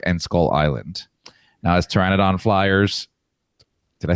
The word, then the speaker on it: Pteranodon: Now, as Pteranodon Flyers, did I say it right?